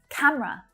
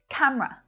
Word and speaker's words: camera: Camera. So this is another favorite word for native English speakers to shorten. Camera. 2 syllables only. Many of my students will say camera, but camera is definitely much more natural.